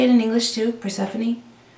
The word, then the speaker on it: Persephone: Persephone? And it just looks like phone instead of phony.